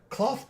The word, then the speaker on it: Klauth: Cloth is spelled Klauth.